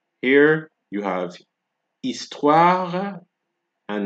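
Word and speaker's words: histoire: from the o right the H is silent here you have estwara and not history and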